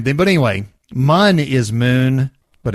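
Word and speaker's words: Mün: i think he's right i think it's meant to be pronounced moon yeah but but that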